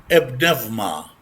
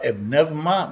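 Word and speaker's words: ⲡⲛⲉⲩⲙⲁ: Pneuma. This is a Greek word, and you notice the Greek words are usually very complicated and hard to pronounce. Pneuma. Here the epsilon is like a V vector.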